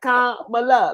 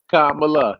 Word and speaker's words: Kamala: Like Kamala, like a comma and Mala. You know, right. That's a good, but that's a good way of Kamala.